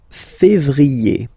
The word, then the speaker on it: février: Then comes février, février. Okay, remember when you have this accent aigu on the top of then you pronounce it e.